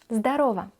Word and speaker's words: Здорово: bit brutal greeting like здорово. Здорово. Здорово. The letter O pronounced in this case like A. Здорово. So it's written здорово, but we say здорово.